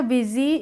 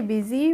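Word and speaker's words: busy: फिर से आ गया बिजी इसको बोलेंगे बिजी बुजी नहीं बोलेंगे विद हिज वर्क ही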